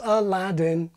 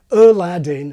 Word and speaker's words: Aladdin: Hercules, Aladdin. But swap those names around and the result is a train wreck. Aladdin, Hercules. Impossible. As the old joke goes, it's putting the emphasis on the wrong syllable.